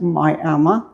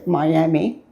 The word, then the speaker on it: Miami: of this, of what Miami, and the locals pronounce it Miami, or others say Miami, Oklahoma. I was born in uh Miami and uh grew up here.